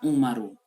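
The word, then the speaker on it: عُمَرُ: Contoh nama yang mengikuti meniru pola fu'alu ini adalah Umaru. Jadi nama Umar itu Umaru, ainnya harokatnya dhammah, mimnya fathah, ro-nya dhammah.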